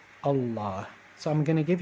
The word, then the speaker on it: الله: going back to allah alif lam here is the article and so since it is the article the and there is another lamb right after this lamb only this one is pronounced allah so i'm going to